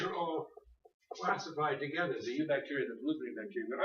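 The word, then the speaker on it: eubacteria: That U is spelled EU. U bacteria.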